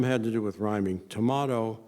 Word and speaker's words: D'Amato: D'Amato rhymes with tomato, but I'm from Kansas City. I can't bring myself to say tomato.